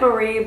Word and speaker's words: Mari: got the Mari and it spelled like Marie but she calls it Mari so I'm just gonna call Mari I got this and